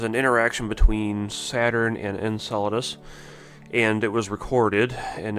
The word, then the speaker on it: Enceladus: And I want to just make mention that I prefer the pronunciation Enceladus because I've heard people also say Enceladus, which to me sounds like enchilada, and I don't know why you would call an icy moon orbiting a gas planet an enchilada, but hey,